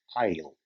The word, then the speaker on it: aisle: i s l e the s remains silent and it is pronounced as i o take a look at